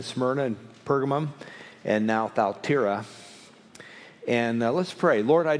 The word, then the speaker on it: Thyatira: If I get this right, the correct pronunciation is Thyatira. All right, would you say it with me? Thyatira. And the only way I could try to remember is like Thou, Thou.